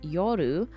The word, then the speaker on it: Yor: Fun fact, the characters are often pronouncing her name as Yoru, which actually translates to night in Japanese, which I think is